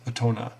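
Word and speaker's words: 大人: And as well as for adult, otona. For some reason, this kanji is pronounced as tona in this weird compound. And these kinds of things,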